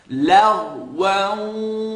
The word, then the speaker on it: لغوا: لا يسمعون فيها, stretch for two, فيها, a commonly mispronounced word, لغوا, لغوا.